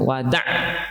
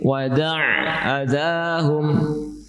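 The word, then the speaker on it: وَدَعْ أَذَاهُمْ: Kemudian pengucapan huruf 'ain, " wada'ahum," perluas, perluas bunyi 'ain, jangan ucapkan "wada," "wada," tetapi " wada'ahum." Ya, seperti itu.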